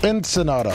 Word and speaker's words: Ensenada: Ensenada.